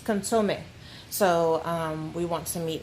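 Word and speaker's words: consomé: It's consome.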